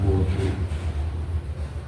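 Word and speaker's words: وضوء: Wawunya wawu di domah, jadi bacanya wudu.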